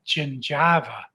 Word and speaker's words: gingiva: ever saw in dental school was this word g-i-n-g-i-v-a it was a funny-looking word i pronounced it gingiva the fella sitting next to me in my